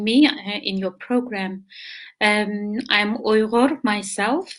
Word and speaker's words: Uyghur: I'm Uyghur myself. A lot of people cannot even spell or pronounce the name because it's very much Arabic sound, Uyghur.